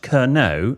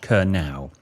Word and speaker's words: Kerno: It's pronounced Kerno, not Kernow.